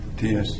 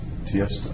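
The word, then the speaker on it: Tiësto: T.S. Tiesto. He's an electronic. Can you DJ. spell it? Tiesto. So the name is Tiesto. It's not initials. It's Tiesto.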